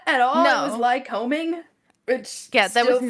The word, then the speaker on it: Lycoming: have somebody that was like actually from there tell us how the fuck to pronounce it. And it wasn't what we thought at all. It was No. lycoming, which Yeah, that was still not fucks one of with our me.